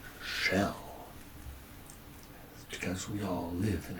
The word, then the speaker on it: Schel: the book is called shell because we all live in a shell it's not spelled like a turtle shell or a seash shell It's s c h e l for shell it's the things that